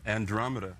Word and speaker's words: Andromeda: This is how do you pronounce Andromeda? Andromeda.